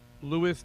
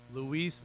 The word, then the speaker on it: Luis: Louis. Did I say it right, Louis? How do you say it? What is it? Luis.